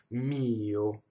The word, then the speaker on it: mio: So pronouns, possessive pronouns tend to have the first vowel with the stress. A lot of times it's written as a one note or one syllable, and you actually have to have a grace note for the second, right?